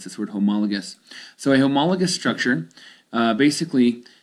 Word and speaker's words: homologous: That's how you pronounce this word, homologous.